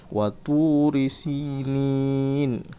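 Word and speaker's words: وطور سينين: Kalau kita baca seterusnya sinina. Oke. Tapi karena di Al-Qur'an kata sinin itu ada berakhiran penutup surah, penutup ayat, yaitu dengan ada nomor ayat. Jadi kita baca waturisinin.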